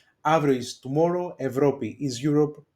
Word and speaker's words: Αύριο: Αύριο, here I am in the second row, that av and ev they pronounce as av, ev. Αύριο is tomorrow, Ευρώπη is Europe, Παρασκευή is Friday, δουλεύω is to work.